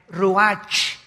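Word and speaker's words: רוח: El ruach, que se escribe R-U-A-C-H, ruach en el hebreo, y se pronuncia igual, ruach. Aquí vemos que al morir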